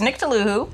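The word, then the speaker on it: Nctolhu: say these names so there's nicktool who and nick tosa you're saying with a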